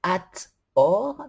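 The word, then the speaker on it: Hathor: et re génératrice d'ailleurs son nom se prononce at or qui signifie littéralement la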